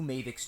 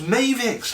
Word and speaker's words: Mavix: you will learn how to assemble your new mavic's chair let's get started mavic's is that was pronounced it's pronounced mavics i've been pronouncing in mavic's bloody hell that